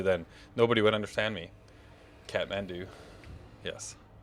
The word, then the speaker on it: Kathmandu: in the asian period i can't pronounce that clatham mandu uh yes kathmandu ah yes there we go you are you are correct man i know that